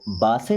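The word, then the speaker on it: base: होता है एक बार बेस इसको बा से नहीं पढ़ते क्या पढ़ते हैं बेस बेस का मतलब होता है हमारा जो आधार है।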